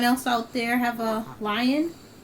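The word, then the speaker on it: Lyon: And so, anyone else out there have a lion? It's uh the sculpt is spelled L Y O N.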